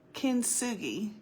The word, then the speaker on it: kintsugi: me see if I can say it right, kintsugi.